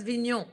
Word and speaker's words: Vigneaux: Caroline Vigneaux. Caroline Vigneaux. Caroline Vigneaux. No, not Vigneaux. Vigneaux. Oh. Vigneaux. Because Vigneaux. E-A-U-X is O.